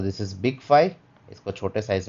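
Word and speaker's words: phi: Fine. उसके बाद आता है फाई। ठीक है? बहुत सारे लोग इसको फी भी कहेंगे। बट वी can call it फाई।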